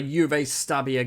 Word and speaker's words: Juve Stabia: So the starting lineup then for the Juve Stabia game. Is that how it's said? Is it Juve or Juve? It's going to be Juve, isn't it? Because it's Juventus. It's Juve Stabia.